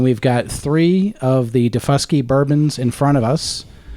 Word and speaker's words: Daufuskie: I just got to make sure I don't mispronounce this one. It is Daufuskie. You got to be careful with that one. I know. That's what I'm saying, Tony. So, Tony, can you verify the pronunciation? It's Daufuskie.